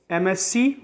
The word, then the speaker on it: MSc: और एमएससी, एमएससी, यम एस C, this is wrong. Correct pronunciation is एम एस।